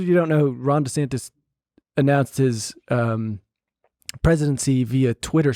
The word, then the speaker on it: DeSantis: After By the way, it's DeSantis, apparently. That's how he pronounced it himself, his own name.